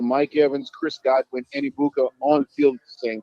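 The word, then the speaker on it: Egbuka: Where they had to pay attention to Mike Evans and that opened the door for uh uh Ibuka. Am I pronouncing it right? Iboka.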